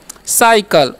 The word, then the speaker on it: cycle: देखिए यहाँ पर सी का उच्चारण क्या हो गया, स हो गया, ठीक है। तब ना हम इसे साइकिल पढ़ेंगे, क्या पढ़ेंगे, साइकिल, ओके।